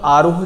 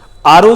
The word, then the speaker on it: RO: कई लोग उसको प्रोनाउंसिएशन में आरोह कह देते हैं, आरोह। पानी का जो रहता है ना, पानी के प्यूरिफिकेशन के लिए, वाटर के प्यूरिफिकेशन के लिए आरओ जो होता है ना